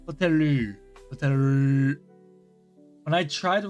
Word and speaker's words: ホテル: Is the L, but sometimes pronounced like an R. It's between L and R. Hoteru.